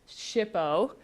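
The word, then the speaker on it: SHPO: state historic preservation office now we call it shipo um in case you're wondering how to pronounce that acronym it's a it's a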